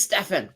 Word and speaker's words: Stefan: It is Stefan. See, like Steven.